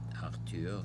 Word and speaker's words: Arthur: And on my left, there is a portrait of my brother, Arthur, pronounced the French way, Arthur, who was the second brother, sibling, among the five that we were long ago.